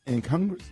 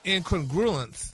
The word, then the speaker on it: incongruous: Say it incongruous. But what was it What did you say the first? Incongruous. If they had incongruence Yeah.